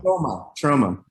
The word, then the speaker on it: Troma: Is Troma the actual way it's pronounced, or is it trauma? I never actually knew. Troma.